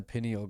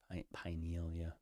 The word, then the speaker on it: pineal: Melatonin is produced in the pineal gland. Pinealia. Pine. Pineal. I think I think you most people pronounce it pineal. I like to say pineal because it sounds like pinnacle.